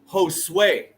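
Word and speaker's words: Josué: to say this word I know how to pronounce his name it's Josue right I know it I know it Josue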